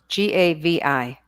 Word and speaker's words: Gavi: white wine gabi gabby how do you spell that g-a-v-i gavi just like it sounds okay dana all right